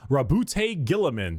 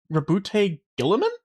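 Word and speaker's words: Roboute Guilliman: Primark Rabbout Gilamin. That's how Yeah, that's how it's said. analyst, a diplomat, boy scout, single word descriptor. Rabute Gillaman. Rabute Gillaman.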